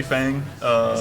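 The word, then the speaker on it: Feng: I would say Fang. In Chinese it's Fung.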